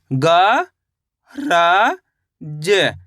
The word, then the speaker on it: गरज: दोस्तों यहाँ पे एक चीज क्लियर कर दूं, अपन करते क्या है, जब भी शब्द पढ़ते हैं तो लास्ट वाले अक्षर का उच्चारण अपन आधा करते हैं।